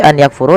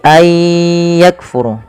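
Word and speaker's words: أن يكفروا: Idam bunah maka Aya cara membaca nya bukan lagi any yakfuru tapi Ay yakfuru Kaf huruf Kaf memiliki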